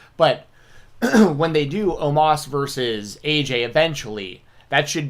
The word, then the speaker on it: Omos: Or Omos, I think is how you pronounce it now. I think they've changed the way they pronounce his name. Am I wrong about that, or am I just making that? I could have sworn they were calling him Omos, and now it's Omos, I think.